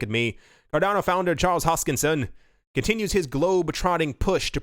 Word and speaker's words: Hoskinson: for some reason I used to say Charles huskin and then kind of continue and I got